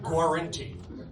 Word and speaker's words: Guarenti: band, the Georgians, under the direction of Frank Guarenti. Can you pronounce that one for me, Frederick? You did it? I did? Oh, good. Frank Guarenti, bringing home the bacon.